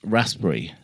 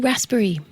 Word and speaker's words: raspberry: And that is raspberry. Oh, raspberry. Raspberry. Raspberry. They don't It's not that. It's the P. I pronounce the P.